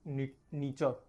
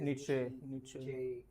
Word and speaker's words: Nietzsche: His name is Friedrich Nietzsche. I don't know the pronunciation of. So there are different ways how this name can be pronounced. Some of them say it is Nietzsche.